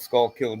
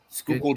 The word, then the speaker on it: Schuylkill: Peace out, Skull Kill John. Skull. Yeah. I think it was Lynn that released that video on how to pronounce it. What video? Schuylkill John.